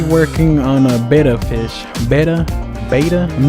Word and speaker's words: Betta: Betta? I'm not really sure how to pronounce it. I'm pretty sure it's Betta, like you better give me that ice cream cone.